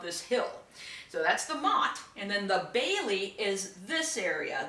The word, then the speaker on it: Motte: a nice example of what we call a Motte and Bailey Castle Mott is spelled M ot te Motte is this hill that's an artificial hill